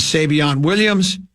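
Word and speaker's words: Savion Williams: that added two weapons in Matt Golden and Savon Williams.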